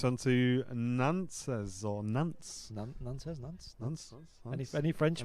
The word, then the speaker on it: Nantes: It's pronounced Nantes.